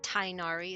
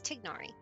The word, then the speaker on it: Tignari: Not Tinari. It's Tignari.